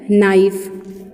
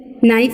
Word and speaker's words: knife: Okay, now next we have, next word we have knife. What's the next word? Knife. ठीक है, नाइफ है ना. तो देखिए स्पेलिंग, देखिए नाइफ की स्पेलिंग है KNIFE, बट प्रोनाउंस क्या हो रही है, प्रोनाउंसिएशन क्या हो रही है?